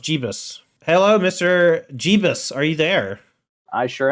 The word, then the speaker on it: Jebas: He says it's pronounced Jebas. Hello, Mr. Jebas.